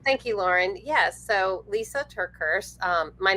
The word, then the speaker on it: Lysa TerKeurst: So, Lisa Turkers. Um my name is spelled L YSA.